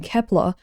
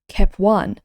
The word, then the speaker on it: Kep1: When sung, especially with the way it's pronounced in many of their songs, Kep1 sounds like keep on, allowing the group to tell their fans to keep on going and other fun, encouraging phrases.